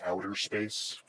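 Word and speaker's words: Audaspace: It's pronounced it's called outpace but we pronounce it outer space because Blender is cool like that.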